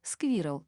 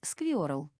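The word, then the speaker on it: squirrel: Один из них — сквирл, то есть белка. У немцев, как правило, получалось сквиорл.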